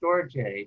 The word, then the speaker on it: storge: some level yeah uh actually it's pronounced storjay but i didn't know